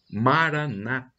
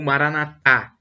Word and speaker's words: Maranata: Cristo temos essa aí essa frase Maranata é como dizem os protestantes evangélicos a tônica da penúltima seda ou Maranata como dizem os católicos quatro anos na última sílaba não importa a pronúncia